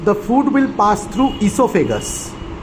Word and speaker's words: esophagus: Because after mouth, the food will pass through esophagus. O is silent.